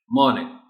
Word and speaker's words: morning: Morning, R को silent रखना है. Morning.